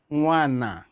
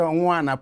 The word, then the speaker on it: Nwana: Nwana. Did I pronounce it well? Yes, Father. Professor Nwana.